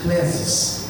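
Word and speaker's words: κλῆσις: Essa palavra vocação no original, a pronúncia clesis.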